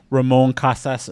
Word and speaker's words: Ramon Casas: Guest today is district one city council candidate Ramon Casas Jr did I pronounce that correctly correct yes you did uh